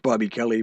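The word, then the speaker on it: Bob-E Kelly: just say bob space e space kelly it's pronounced bobby kelly but it's spelled blob space e space kelly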